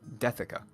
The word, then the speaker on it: Deathica: No, I no, like that's pronounced the. So it's still Dethica. Ooh.